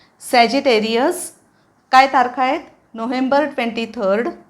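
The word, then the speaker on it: Sagittarius: spelling पण मोठा आहे उच्चार पण जरा वेगळा आहे बघूया सॅ जी ते री अ सॅजिटेरियस सॅजिटेरियस सॅजिटेरियस काय तारखा आहेत नोव्हेंबर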